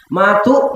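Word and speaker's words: mot: ನೋಡಿ ನೀವು ಫ್ರೆಂಚ್ ತಗೊಳ್ಳಿ ಫ್ರೆಂಚ್ನಲ್ಲಿ ಒಂದು ಶಬ್ದ ಇದೆ ಷಡಮಾ ಅಂತ ಅಲ್ಲಿ ಮಾ ಅನ್ನೋದಕ್ಕೆ ಸ್ಪೆಲ್ಲಿಂಗ್ ಎಂ ಓಟಿ ಅಂತ ಮಾತು ಮಾತೆ ಮಾತನ್ನ ಕದ್ದು ಮಾದು ಅದ ಉಚ್ಚಾರ ಮಾ ಅಂತ ಟಿ ಸೈಲೆಂಟ್ ಇಲ್ಲಿ ಮಾಚೋ ಮಾ ಅಂದರೆ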